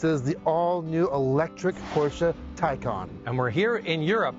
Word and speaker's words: Taycan: Taycan is how you say it, by the way. It's not Taycan, or goes along with